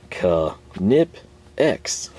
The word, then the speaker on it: Knipex: people for this uh it's literally pronounced this way it's a german word just roll with it